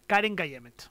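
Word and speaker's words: Keren Kayemet: Karen Kayemet.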